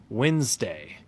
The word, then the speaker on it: Wednesday: Wednesday. This has kind of a W-E-N-Z sound. Wednesday.